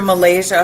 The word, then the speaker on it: Malaysia: here with us. Uh, am I pronouncing the name well? It is medicine, right? Dr. Malaysia. Malaysia. Malaysia. Okay. Yeah. Like the country.